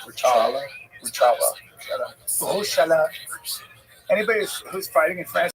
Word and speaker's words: Rothschild: Rothschild. Rothschild.